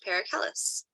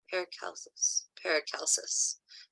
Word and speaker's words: Paracelsus: But first, before we get there, does anybody have any questions about Paracellus? Paracelsus. I keep saying his name wrong.